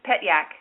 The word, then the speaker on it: Pyak: It it is pronounced just like it reads. Pyak.